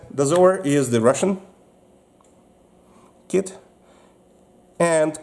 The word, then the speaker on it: Dozor: And it's pronounced as Dozor.